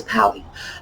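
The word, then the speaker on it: palais: This is from a French dance hall, dance pally. They were called pallies. That rhymes with alleys or galleys, and it's P-A-L-A-I-S, because that was sort of an Americanized French, and oh, aren't we elegant, we're off at the dance hall.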